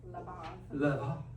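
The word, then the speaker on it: לבב: Levav.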